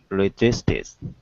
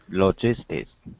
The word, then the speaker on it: logistics: Logistics. Logistics. Yeah, but you're dropping the C. So logistics. It's that k s together.